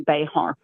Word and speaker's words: Bexar: B X A R. So, if you were Spanish, it would be Bayhart.